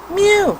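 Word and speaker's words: μ: an M alright and you pronounce it M you like a little kitten all right so our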